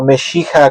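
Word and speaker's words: מָשִׁיחַ: Bueno, en la Biblia el Mesías es aquel ser, aquella persona, aquel personaje que Mesías o Meshija, como se pronuncia en hebreo, significa ungido.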